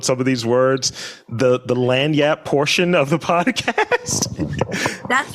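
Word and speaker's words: lagniappe: So I want to move into the quick fire, and I'm going to mispronounce a word because I have trouble with some of these words. The lanyap portion of the podcast.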